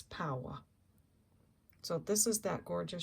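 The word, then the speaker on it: paua: in the comments and wrote down how to pronounce that shell Abalone or poow instead of pu Pua I think I think it's power so this is that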